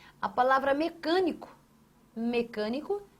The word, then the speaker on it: mecânico: Ótimo, porque a palavra mecânico traz em sua tonicidade aqui ó, a sílaba can. Ó, mecan, você não fala mecânico nem mecânico, você fala mecânico. Então, você tem a sua tonicidade ali, ó, marcada em can.